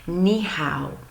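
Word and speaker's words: 你好: in their pronunciation so you would pronounce that me how me how is how you say hello in Chinese now that's Mandarin Chinese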